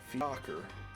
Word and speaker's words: Fiacre: Fiacre. Or Fiac. Oh, Fiacre in British English.